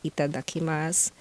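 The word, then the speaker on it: いただきます: it's it is spelled as itadakimasu but the pronunciation is itadakimasu so you take a moment to thank the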